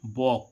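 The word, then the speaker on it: walk: ऐसे ही हम देखें डब्ल्यू ए एल के वोक। वोक मींस क्या होता है? टहलना। अब देखो यहां पर एल क्या हो रहा है?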